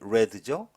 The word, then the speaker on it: read: 자, 관계절은 아 수동이니까는 발음이 red죠.